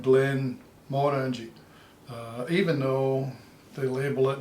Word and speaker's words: Glenmorangie: If you look at the title of Glenmorangie, it's written as one word, Glenmorangie, and that would certainly be how they pronounce it in Glasgow. But if you're up in that neck of the woods, they would put a pause between the Glen and the Morangie, so they would call it Glenmorangie, even though they